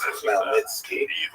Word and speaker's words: Khmelnytsky: It's actually pronounced Khmelnytsky with a guttural Igor at the looks beginning.